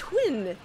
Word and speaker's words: Huynh: funny you're hilarious uh a question for miss quinn am i pronouncing that right xanthe quinn right yes oh